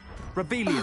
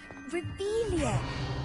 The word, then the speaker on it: Revelio: Revelia! Saying it wrong! Ugh, Revelia!